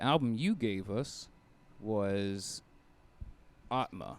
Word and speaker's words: Atma: uh so the album you gave us was atma it's pronounced atma yeah and uh yeah it's pretty accurate description